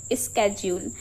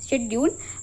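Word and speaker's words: schedule: The first one, सबसे पहले जो फर्स्ट वन है दैट इज स्केड्यूल। ओके, सो बहुत सारे लोग इसे प्रोनाउंस करते हैं शेड्यूल, बट इट इज नॉट शेड्यूल, इट इज स्केड्यूल।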